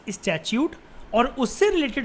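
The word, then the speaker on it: statute: स्टैच्यूट। इसको ऐसे ही बोलते हैं, द प्रोनाउंसिएशन इज स्टैच्यूट।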